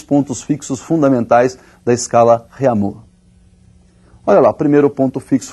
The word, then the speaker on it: Réaumur: é a escala Réaumur, que nós vamos pronunciar Réaumur, né, que é aportuguesado de novo, né, e essa escala